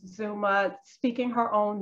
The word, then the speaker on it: Xuma: name is Maddie Hall Zuma so the way she pronounces it of course is not the way it would be pronounced in South Africa I'm well aware that